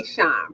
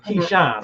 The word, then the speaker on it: Keyshawn: Keyshawn, because he pronounced Keyshawn. She's right there. Oh, Keyshawn. Oh, hey, pardon me. Keyshawn. Okay. Keyshawn, get it right.